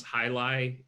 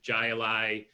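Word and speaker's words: Jai Alai: talking about highlight and if there is a way to pronounce hi-li incorrectly i've heard every single one of them uh jla jayalai jolly ali that one's my favorite i don't know how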